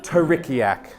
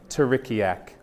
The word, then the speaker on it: Terikiak: Jonah came up with the name, and yes, it was inspired by teriyaki sauce. But it is pronounced Terikiak. Terikiak.